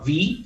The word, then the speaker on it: V: And there comes in this warrior called V, again a very simple pronunciation. I like simple. Which is actually which is like the last syllable of Devi.